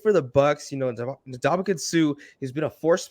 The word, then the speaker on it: Ndamukong Suh: Ndamukong Suh, yeah.